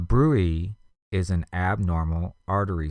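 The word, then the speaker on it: bruit: trachea next we have a BRI b r UI t a brewey is an abnormal artery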